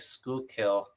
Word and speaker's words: Schuylkill: Schuylkill is the name of a place where I live. I gotcha. I got It's you. not like school. It's like Schuylkill.